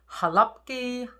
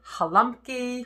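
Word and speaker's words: Gołąbki: it out for us, I've heard Golabki, Golumpki, which I believe is a Slavic version of the word, Golumpki, Golumpkis, all different ways of saying that.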